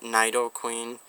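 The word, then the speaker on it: Nidoqueen: or queen every okay if you guys pronounce it naido Queen and Nido King I'm sorry but I was always raised with Neato and it made more sense and I've always heard it in the shows so if you guys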